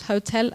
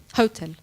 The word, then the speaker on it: hotel: And it surprised me because I know the English pronunciation is difficult, but this word, the stress is on the same syllable, both in English and in Spanish.